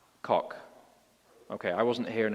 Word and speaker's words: Koch: And the first version of the Equality Act was brought before Congress in 1974 by Ed, what do you pronounce his name, Koch or Coach? Koch.